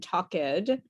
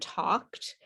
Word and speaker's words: talked: and talked okay so it's not walked and tucked it's walked and talked and uh make sure